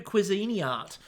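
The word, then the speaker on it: Cuisinart: the question is do cuisini art um make those by the way we're going with another pronunciation because apparently last week was wrong too so cuisini art do they get onto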